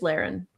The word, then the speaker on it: Laren: But And just a quick note it's just Laren. Laren Laren Morris, yeah. Well that's two L's like Lloyd. You're not wrong, but they didn't pronounce it that way in the audiobook.